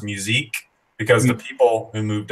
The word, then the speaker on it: Musick: like Norwegian or tickets I think it was French is actually pronounced musique because the people who